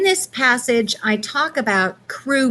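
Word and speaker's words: Kru: and in this passage i talk about crew men and that's spelled k-r-u the crew were one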